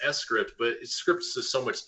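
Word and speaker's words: scrypt: s grip like it's it's supposed to be pronounced s script but scripts is so much easier it rolls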